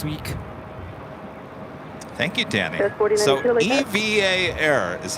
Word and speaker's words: EVA Air: Name EVA is always spelled in capital letters and pronounced EVA.